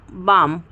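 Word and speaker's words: balm: है, तो वहाँ पर भी हम एल को प्रोनाउंस नहीं करेंगे। ठीक है, जैसे कि काम, CALM काम होता है, तो काम, बाम, पाम, आमंड।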